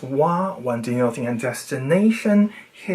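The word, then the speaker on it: は: When denoting a subject in a sentence, ha is pronounced wa.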